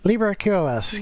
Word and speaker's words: LibreQoS: I mean, you're working on, how do you pronounce it? LibreQoS? LibreQoS, yeah.